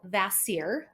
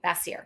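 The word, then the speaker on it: Vacier: I want to say it's called vasir but I don't so it's spelled v a c i e r okay bassier okay um and but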